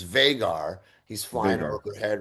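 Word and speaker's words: Vhagar: I got to play and Draga. Well, it's Vagar. We said it wrong last week. It's Vaggar.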